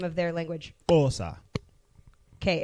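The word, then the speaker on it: Xhosa: do you say the name of their language OSA okay it's xh osa one more time cool awesome okay see there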